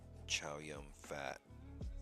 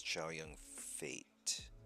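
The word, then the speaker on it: Chow Yun-fat: tape yeah I love Chia young fat I hear his name is cha young fate that's how you pronounce it I think and then I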